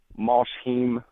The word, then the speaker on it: Mosheim: We're based out here in Mosheim, as the locals pronounce it.